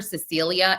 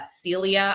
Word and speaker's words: Cilia: There is um Ramon Rodriguez Chen who is a former interior minister and governor obviously uh Celia I think I call her Cecilia. It's uh Celia.